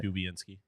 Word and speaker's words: Dubinsky: just said dubinsky yeah but that's how you say his name dubinsky Brandon dubby yep uh